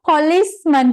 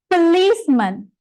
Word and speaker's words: policeman: This one, ගොඩක් අය mispronounce කරනවා policeman කියලා. එක police නෙමෙයි, it's policeman.